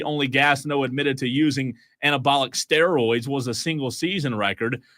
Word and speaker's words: Gastineau: Texter says Gastineau pronounced Gastineau. Okay, so it's Gastineau.